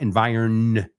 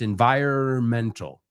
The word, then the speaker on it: environmental: La N de environmental, no lo pronunciamos. It's not environ, it's environmental. Yo nunca he pronunciado esa N en mi vida.